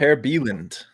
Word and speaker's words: Per Bieland: Per Bieland, if you use the Swedish pronunciation.